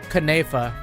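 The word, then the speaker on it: Knafeh: Pronunciation. Knafa. Yeah. We all food names, some of the most mispronounced ones in fact, so make sure to stay tuned for those. This is a traditional meat buffet. Knafe.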